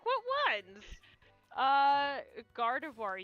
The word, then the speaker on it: Gardevoir: like what ones uh Gardevoir you say garvador Gardevoir yeah Gardevoir I'm pretty sure that one's right well when you said it there but uh a lot of times you said uh garvador and then whatever my